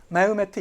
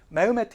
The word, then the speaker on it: 메흐메트: 다 같은 데입니다 렇게 메메트 이세 요을 빼서 발음하기도 합니다 메메트 이세 요렇게도 불리기도 해요 메흐메트 이세 메메트 이세 같은 사람입니다 이게이 인물이 10 5세기에